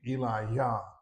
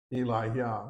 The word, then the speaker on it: Elijah: Now, in a way, you could say we've been mispronouncing this prophet's name all these years. It would be Eli Yah. Eli Yah. Well, you see, the Jews didn't really hit the J so much.